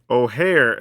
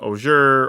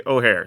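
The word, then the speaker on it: Ojer: this case as you can see here uh ohare is how we pronounce that just in case you were wondering because some people probably saying oer or something else it actually ohare so that's actually very neat just to have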